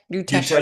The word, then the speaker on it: Yukteswar: You're mentioning um Babaji and Did you say Sri Yukteswar or How do you say, you know, Yutesh Yuteshwar.